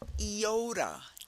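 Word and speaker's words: Iota: following Theta we get eoda eoda so it starts with a e eoda and if you know the the letter eoda you know that name it has the e sound eoda the e sound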